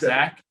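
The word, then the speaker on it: Zech: right well first off his name is z-e-c-h but it's pronounced zach no it's not for the guy i work with his he he grew up with his dad it's pronounced zach i thought okay once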